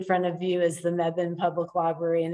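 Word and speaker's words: Mebane: the name wrong so if you say me bane they know you're not local that what you see in front of you is the meven public library and it's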